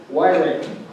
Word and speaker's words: Wyrick: First of all, I'd have to say my name is Rick Wyrick, So if you've seen those banners out there that say, "Why, Rick? I'm the guy."